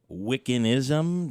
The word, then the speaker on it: Wiccanism: are who do practice wiccanism do I say that yeah you said it right is that proper so